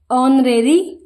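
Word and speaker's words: honorary: personal कार्मिक होनर सॉरी ओनरेरी अवैतनिक ओनरेियम मानदे इसमें एच साइलेंट होता है ओ से इनका प्रोनंसिएशन किया जाता है इनिशियल्स लघु हस्ताक्षर इंस्टॉलमेंट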